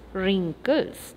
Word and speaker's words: wrinkles: pronounce that word wrinkles w r i n k l e s it's wrinkles the alphabet w is silent okay wrinkles next sentence